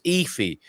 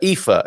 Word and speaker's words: Aoife: pleasure and so it's it's pronounced it's an irish name okay yeah thank you so much my first guess until i got scared was ify but uh ifa is the right pronunciation okay so i'm glad